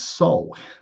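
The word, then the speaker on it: sol: The Latin word for sun is soul. S O L, right? Which is pronounced exactly the same as our authentic makeup as a soul.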